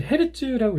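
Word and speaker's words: Hz: 20에서 2만, 이것은 이제 헤르츠라고 읽습니다.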